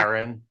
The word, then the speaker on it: Aron: Aaron Aaron There we go.